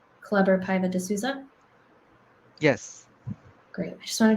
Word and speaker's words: Paiva de Souza: i'm introducing you correctly is your name uh pronounced club or piva de souza yes great i just wanted to make sure